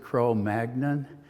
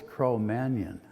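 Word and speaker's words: Cro-Magnon: then there's Crow and I used saw us pronounce it crow magnan. I was told it's crow manion sort of like fillet minion.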